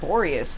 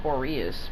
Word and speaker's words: Boreas: It's Boreas, not Boreas, but okay.